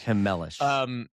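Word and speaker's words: Chmelař: That is how you say Schemlar's last name. It's Hemelish. Hemelish.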